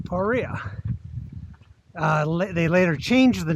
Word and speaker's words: Paria: do it again so people ask why do you say paria I've heard so many people say pariah okay well it turns out the original settlement was spelled p-a-h-r-e-a-h so perea uh they later changed